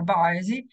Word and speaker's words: Boise: Allora, questa mappa è una mappa della città di Boise, si pronuncia Boise, perché pare che siamo praticamente nella parte nord-occidentale degli Stati Uniti che confina col Canada.